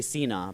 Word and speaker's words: Sina: so popular ah well in Farsi you would say Cena but yeah but like